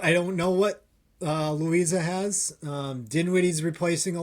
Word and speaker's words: Louisa: Home against Herm home against Benedictine at Liza. Louisa. Loisea. I never say it right, so I just say Louisa.